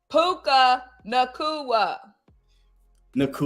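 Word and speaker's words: Puka Nacua: bad luck well all right how do you pronounce his name puka Nua Naka all right you know what pen all right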